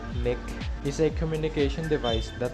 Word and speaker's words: NIC: network interface card or nic pronounced neck is a communication device